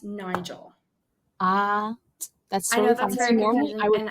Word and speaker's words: Nigol: Here to help me break this down today is Miss Bella Nigel.